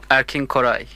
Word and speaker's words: Erkin Koray: Erkin Koray.